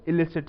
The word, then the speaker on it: illicit: दोनों की सेम है इस ई से भी आप जो शब्द है इसको आप इलिसिट कहेंगे आई से भी जो शब्द शुरू होता है इसका नाम इसको आप प्रोनंसिएशन इसकी उच्चारण जो है वो इलिसिट से होएगी सो बेसिकली इन दोनों